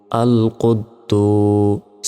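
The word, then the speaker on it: القدوس: কফ দাল পেশ কুদ তারপর দাল পেশ দু বলতে হবে কিন্তু দালের পর আবার ওয়া অক্ষরের উপরে সাকিন রয়েছে তাহলে এই দাল গিয়ে আবার ওয়াও কে ধরবে দাল ওয়াও পেশ দু আল কুদ্দুস সিন পেশু আল কুদ্দুসু তারপর হামজা লাম জবর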